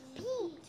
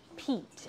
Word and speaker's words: Pete: is a name ready Pete Pete it's not pet because there's an e at the end right so it's going to make Pete right cat yes like